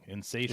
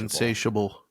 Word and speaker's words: insatiable: just our insatable need I think I pronounced that like way wrong insatable insatiable yeah insatiable there there's that GPT